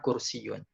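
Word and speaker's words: كُرْسِيٌّ: Nah terus yang ketiga kalau ada huruf tasydid maka tekan Hai pelafalannya di huruf tasydid contohnya di sini ada kata kursiyyun knalpot kursiyyun kursiyyun kursiyyun yang tadi itu ya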